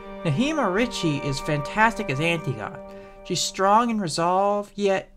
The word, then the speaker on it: Antigone: The new story concerns a young immigrant girl named Antigone (pronounced ann - tee - gonn) –not Antigone (pronounced ann - ti - goh - ney), I don't know why– and what happens when